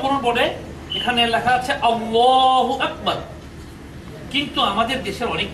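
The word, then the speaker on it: الله: এই লাম অক্ষরটা শুধু আল্লাহ শব্দের ক্ষেত্রেই এটা উচ্চারণের একটা স্পেশালিটি একটা বিশেষত্ব আছে এখানে লেখা আছে আল্লাহু আকবার আল্লাহ শব্দের মধ্যে আপনারা দুটো লাম দেখতে পাবেন পাচ্ছেন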